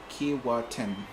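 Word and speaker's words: Keewatin: warmer by the minute so um keratin is pronounced kiwatin well it's not not not hard I mean I think most people who see the name kewatin would say kiwatin uh oh I see ship geek says what's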